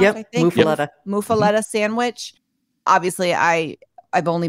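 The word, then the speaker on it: muffuletta: Is that how it's pronounced? Yep, I think muffaletta.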